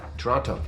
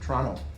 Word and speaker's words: Toronto: where were you born Toronto Toronto Canadians don't pronounce the T some com guard is